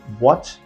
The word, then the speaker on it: watch: जैसे आप दो वर्ड देखिए, वॉच एंड नो, दोनों ध्यान से देखिए। WATCH, वॉच। आप में से किसी स्टूडेंट ने पूछा सर, वॉच में टी का प्रोनाउंसिएशन होता ही नहीं है, तो टी दिया क्यों गया है।